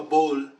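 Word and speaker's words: boule: so this is a finished it's called a bowl bowl spell it b-o-u-l-e b-o-u-l-e okay so this all this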